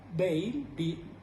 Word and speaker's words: Beale: ¿Me entiende usted, señor Bale? Se escribe Beale. Señor Bale.